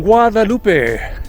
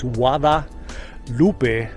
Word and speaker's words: Guadalupe: From Guadalupe, pronounced Wada, with it like a W instead of the G sound. It's Guadalupe River State Park.